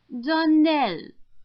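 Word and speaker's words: Donnell: would set it right darell Accent on the last syllable and St CLA on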